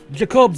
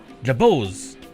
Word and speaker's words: Jabos: Jacobs has been taken back to Movopolis. Jacobs? No, it's not Jacobs, it's Jabos. God, I've been saying it wrong.